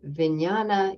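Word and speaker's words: viññāṇa: the last of these five Aggregates is called vinyana in Pali which means consciousness is spelled v-i-n-n-a-n-a in poly and uh Consciousness is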